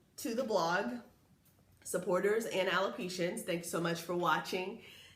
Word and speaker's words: alopecia: I have alopecia areata totalis, and yes, it is pronounced alopecia.